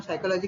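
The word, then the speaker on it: psychology: पी नहीं भी लिखा तो भी हम साइकोलॉजी कहेंगे, निमोनिया कहेंगे तो उसमें पी नहीं आता है, लेकिन यहाँ पर स्पेलिंग में लिखा रहता है स्यूडो, झूठा, तो ये पी यहाँ पर भी आता है। प्रोनाउंसिएशन हम स्यूडो करते हैं, लेकिन लिखते वक्त पी लिखते हैं।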